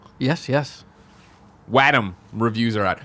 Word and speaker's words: Wattam: Wattam is how Wattam, because that does. That's how I just did that right it's now. Wattam, like Watto, Wattam. I have. I'm gonna say Wattam from here on out.